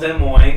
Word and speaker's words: Des Moines: So, Des Moines. we're in Des history Moines. class, and so some guy called Des Moines, he's a French dude, and for some reason